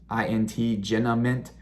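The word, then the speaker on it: Genamint: announces that they purchased jinament i believe that's how you say it g-e-n-a-m-i-n-t jenna mint it's an ai computer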